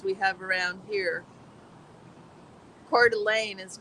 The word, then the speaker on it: Coeur d'Alene: Just not easy to pronounce, and that's not even indigenous. That's French.